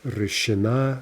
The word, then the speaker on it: решена: The stress is always going to jump to the ending. And we get решена, решено, решены.